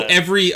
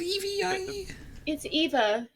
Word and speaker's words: EVE: go who is eve eat it spelled like with an i i think it was pronounced eve in the movie that right it was yeah okay it was was it evie tony's saying it right